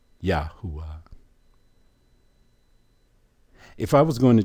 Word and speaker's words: YAHUAH: YAHUAH. Or 2 U's with a W-A-H at the end. YAHUAH. 2 different spellings. Matter of fact, 3 different spellings. But the same phonetic pronunciation.